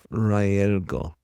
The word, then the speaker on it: Rael'go: the human tongue, but it's closest in Raelgo. And Raelgo with a G and R sound.